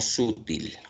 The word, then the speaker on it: sutil: ¿Se pronuncia sutil o sutil? ¿Qué dicen ustedes? ¿Cuál es la correcta pronunciación de esta palabra? Sutil o sutil. Sutil. ¿Dónde está la mayor fuerza de vos? Til. Ent. Claro. Es una palabra aguda.